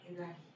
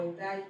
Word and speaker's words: Edähi: Antes de continuar con esta presentación, me parece importante tener presente qué significa la palabra Edagi, o Edai, como lo pronuncian algunos.